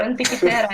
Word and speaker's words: Antikythera: Or Antikythera in English. Antikythera. Okay. Antikythera.